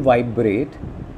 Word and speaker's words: vibrate: Similarly, in vibrate, vibe will not be stressed, it is the syllable rate that will be stressed.